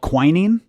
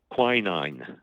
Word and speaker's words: quinine: Is it called quinine? Quinine. Quinine. Okay, so is this an antioxidant as well? It is. You had the wrong accent on the syllable, Mr.